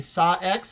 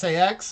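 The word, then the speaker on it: SA-X: Over to the that right is going to be Saw X. Is that how you pronounce it? No, it's just SAX.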